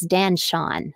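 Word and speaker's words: Dan Chaon: And another writer whose work I really admire is Dan Shawn. It's spelled like chaos, but with an N.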